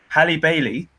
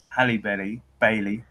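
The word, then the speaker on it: Halle Bailey: you guys don't know Hallie Bailey I said it right Hallie belly Bailey I said it wrong the second time not Haley Barry hey Hallie belly Bailey it's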